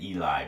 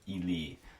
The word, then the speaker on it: Ely: So yeah, we're pronouncing it Eli, but it's Ely, E-L-Y. Ely, Minnesota.